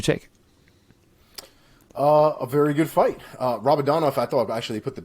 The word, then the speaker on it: Rabadanov: Rabadanov.